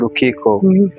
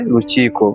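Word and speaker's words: Lukiiko: You read K-I as key. Ki. Then key in Uganda, we say chi. That's Chi. why I say Ruchiko. Oh, Chico, but Yeah. it spells like K. Rukiko, yeah, in Oh. Kiswahili pronunciation.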